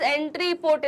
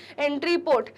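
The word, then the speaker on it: entrepôt: इसको क्या बोलते हैं स्टूडेंट्स, एंट्री पोर्ट। स्पेलिंग क्या है, ENTREPOT, एंट्री पोर्ट।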